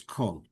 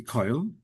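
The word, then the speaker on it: כָּל: If it would have a makaf, which means it connects it to the following word, it's kol. If it doesn't, then it should be koil.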